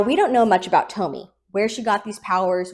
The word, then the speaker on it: Tomie: So for the rest of the review, I I to pronounce it Tomie, but the correct pronunciation is Tomie.